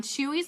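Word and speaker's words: Chuy's: mexican restaurant near you it's spelled CH uy s if you want to look it up online chewies Mexican restaurant it's kind of a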